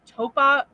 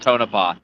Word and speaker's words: Tonopah: haunted clown motel in topa yeah yeah all right yeah okay it's called tonopah thank you i probably